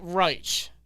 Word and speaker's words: Reich: wrong like every time Frank Reich Frank Reich that's what people are trying to tell us how you know how it's pronounced nonetheless the Colts former